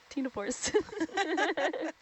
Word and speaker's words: ctenophores: So yeah, it's Satenophores are comb jellies, and so I guess when you say the name, you don't say the C. So Satenophores.